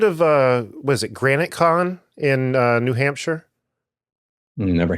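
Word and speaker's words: GraniteCon: Hampshire SE The Rock what's that Granite as in the rock or the that's the way it's spelled g r a n i t e con all one word but um Judith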